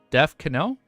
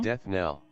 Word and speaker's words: death knell: Deaf Canal? Deaf Canal. How do you say this word? I see Nell. Canal? Death knell. Oh, just the K silent.